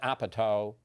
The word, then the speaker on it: Apatow: Paul Rudd and they're almost like the Judd Apatow I said it right again Repertory company is